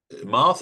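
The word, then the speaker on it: Marthe: this is Martha again Marth is spelled in incidentally m a t h e so it might be pronounced Marth but I'm tend I'm putting a little bit of emphasis on the e um to make it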